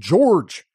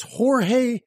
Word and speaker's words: Jorge: the time to learn how to say his name correctly I wasn't yelling but I was certainly exclaiming what do you mean my client was caught off guard by my frustration his name it's Jorge Padilla Jorge Padilla now shame